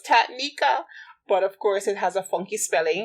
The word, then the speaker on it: Taniquea: er you know it's my name is difficult to pronounce on paper it's only three syllables tatnika but of course it